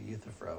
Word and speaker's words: Euthyphro: style I called the Euthyphro where it's spelled it's like the you and euthanasia EU t hy p